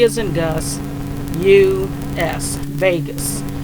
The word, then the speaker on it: vagus: as in Gus, U-S, Vegas. Pronounced like you'd say Las Vegas, but spelled different, V-A-G-U-S.